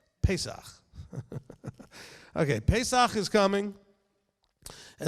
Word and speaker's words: Pesach: And anybody who wants to know how to say this correctly, it's Pesach. Not Pesach or Parasox or some other thing, but Pesach.